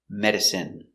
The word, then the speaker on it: medicine: with i n e we pronounce them all the same in in remember medicine margarine intestine or intestines more